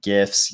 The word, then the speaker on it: GIF: posting pretty hilariously timed gifts yes i did pronounce it with the g gifts of brad pitt in